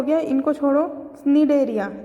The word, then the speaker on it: Cnidaria: Next हमारे क्या हो गया, इनको छोड़ो, निडेरिया। देखो इसकी स्पेलिंग है फाइलम 2 CNIDARIA या फिर सीलेंट्रेटा। इसको सी साइलेंट रहता है, इसको बोलते हैं निडेरियन के नाम से हम इसको जानते हैं।